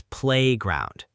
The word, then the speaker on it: playground: Let's practice that pronunciation. It's playground. We stress the first part, play.